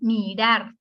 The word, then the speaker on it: mirar: Se fijan, mirar tiene dos sílabas, la sílaba tónica es rar.